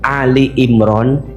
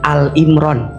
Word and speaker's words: Ali Imran: Kalau maca Ali Imran jangan Al Imran. Bacanya harus Ali Imran. Karena yang dibahas di situ maknanya keluarga Imran. Kalau Al Imron hanya Imron sendirian.